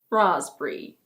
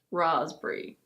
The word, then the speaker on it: raspberry: In this one the P is actually silent. We don't pronounce it at all. This one in British English is: raspberry. Raspberry.